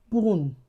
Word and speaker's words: bonne: What if I add letter e to that word? It becomes bonne. bonne The nasalization has been removed.